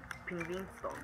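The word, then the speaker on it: Pingvinstång: Ah, vamos a pronunciar eso. Eso se llama Pingvinston.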